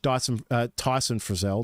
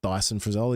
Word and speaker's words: Tyson Frizzell: So on the right edge, Tyson Frizzell, not Dyson Frizzell. He's not a vacuum.